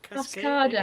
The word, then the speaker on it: Cascada: Cascada.